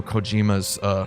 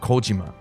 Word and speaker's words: Kojima: out for mispronouncing Hideo Kojima's last name. Or Hideo Kojima's last name. Because I pronounced it Kojima. Kojima. It's Kojima.